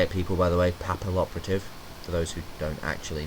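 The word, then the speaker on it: Papilloperative: uh two M stroke uh Cowboy uh Photon papal operative that's how you say it people by the way papal operative for those who don't actually know abyss dweller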